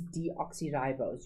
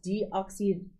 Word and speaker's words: deoxyribose: from, pentose, okay, and its name is deoxyribose. You need to know that, not deoxybose. Sometimes learners leave out the RI, or sometimes they leave out the O. Okay, you please spell it correctly. It is deoxyribose.